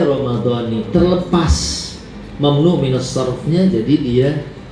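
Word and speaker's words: رمضان: dulu saya juga bacanya ramadana Padahal ramadan memang adalah isim mamn minf. Dia itu kalau majrur tetap na dibacanya. Tapi karena dia diidofahkan dengan hadhi sanati jadi dia ramadani.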